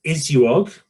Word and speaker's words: ISUOG: Gabrielle is an event professional currently working for the International Society of Ultrasound in Obstetrics and Gynecology. Pronounced ISUOG, which is an international society focusing on improving women's health in that speciality.